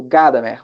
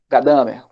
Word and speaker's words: Gadamer: da hermenêutica do Heidegger, diferente da hermenêutica do Gadamer, ou Gadamer, conforme vocês pronunciem.